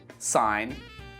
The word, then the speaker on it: sign: Let's move on to the letter G, and we don't pronounce this letter in words like campaign, assign, design, sign, reign.